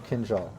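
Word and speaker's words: kindjal: time my tongue hurts i have seen it written phonetically kin jal kenzal okay awesome kenjal let's all try to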